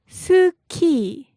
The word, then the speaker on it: 스키: so now we put these two together and we get, 스키. this means ski. Pretty close in pronunciation, right?